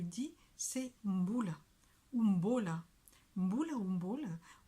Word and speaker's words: mbola: Mbula, c'est la prononciation exacte. Hein. Je vous ai parlé de la prononciation il y a déjà quelques semaines, quelques mois même de ça. Et mbola, c'est quand dans le parler, comme ça vit un peu, il y a des gens qui disent mboula, mboula et